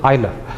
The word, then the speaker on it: Euler: It is pronounced Euler, not Euler. So it is Euler.